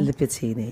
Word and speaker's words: Libertíny: Did I pronounce it properly? Tomáš Gabsdiel Libertíny. Libertíny, yes, indeed.